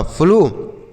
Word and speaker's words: flow: FLOW, यह हो गया आपका फ्लो, FLOW फ्लो, FL से आधा फ और ला, OW का उच्चारण ओ की मात्रा हो गया फ्लो।